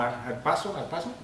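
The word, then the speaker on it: ἁρπάζω: que dice aquí, que es arrebatados, que se pronuncia como arpazo, realmente nos está dando ese significado literal en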